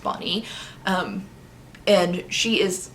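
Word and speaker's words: Bahni: turpin b-a-h in i which i think is pronounced bonnie um and she is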